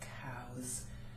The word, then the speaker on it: cows: Therefore, the S turns into a Z. Cows.